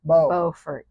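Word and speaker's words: Beaufort: you're in North Carolina you need to say bordt BT bordt North Carolina look at the beautiful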